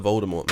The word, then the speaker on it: Voldemort: fucking Yeah, awful it's pronounced Voldemort.